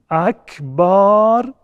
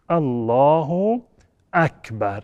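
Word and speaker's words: الله أكبر: چنین تلفظی جایز نیست پس سعی بکنیم که حتماً تکبیرة الاحرام را به اینگونه تلفظ بکنیم بکنیم بکنیم الله اکبر این تلفظ صحیح هست و بقیه تلفظ و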